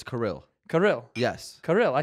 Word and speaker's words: Kirill: out - call me whatever Cheers but it's kirill kirill yes Kirill I said it right yeah